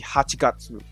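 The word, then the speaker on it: 八月: It will be Hachigatsu. That's how it's pronounced.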